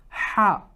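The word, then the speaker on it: ح: with them right ha now bear in mind this is not like ha that the H sounding uh letter that we have in English it's not the equivalent to that because that ha has a more heavier sound to it it comes from the chest but this ha it's coming from the throat and inshallah we're going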